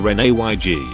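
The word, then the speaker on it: reneg: previous statement or submission i've only ever heard it pronounced re-energy rhyming with egg as a brit i'm kinda confused by this we say it more like ren ayg probably due to the french-looking spelling although welsh almost certainly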